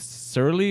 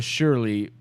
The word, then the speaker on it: Surly: That one is with Surly or Shirley. Don't call me Shirley. It's spelled Surly Brewing Company, and that's a collaboration too.